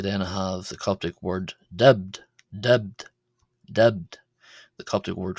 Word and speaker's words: ⲧⲉⲃⲧ: Here the letter B uh is pronounced as a B because it's part of a consonant cluster in a final syllable. It is clustered with the letter dub at the end. Uh thus ending the word and being part of the final syllable.